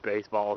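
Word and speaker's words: béisbol: I think that's hilarious that baseball is the same in Spanish as it is in English, except it's pronounced, or it's spelled B-E-I-S-B-O-L, but you pronounce it like the same way.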